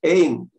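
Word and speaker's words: עין: как описывает Тора, «Ваяхесет эйн коля арец, ватахшох арец». И покрыл. Эйн коля арец. Эйн – это вообще такое, скажем, служебное слово в иврите. Айн – это глаз. Но в смехуте читается как эйн.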